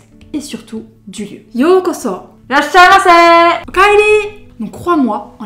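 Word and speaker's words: ようこそ: Donc en termes de prononciation en fait, yōkoso se dira yo, donc on va allonger le o, et ça fera yōkoso.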